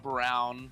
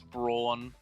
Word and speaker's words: Braun: They called him Reiner Brown, but it's Braun.